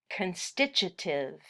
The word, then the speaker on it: constitutive: type of gene expression constitutive expression that's a miserable word to spell but we pronounce it constitutive you can imagine some